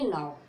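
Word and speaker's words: know: क्या आया है, के बाद एन आया है, तो के का उच्चारण नहीं करेंगे, अभी सीखा है, के का उच्चारण नहीं करेंगे तो इसको पढ़ेंगे नाउ। ठीक है, नाउ मीन्स क्या होता है, जानना।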